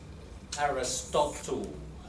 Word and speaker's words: Aristotle: Aristotle. Rhymes with bottle.